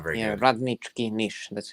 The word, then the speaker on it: Radnički Niš: Radnički Niš. Yeah, not very good. Radnički Niš. That's how you pronounce it, but yeah.